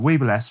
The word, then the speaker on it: Weebill S: The Weeble S from Zhiyun, I pronounce it like that anyway.